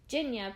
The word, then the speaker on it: Jinya: Jinya, pronounced like Virginia but without the ver, comes in a close second.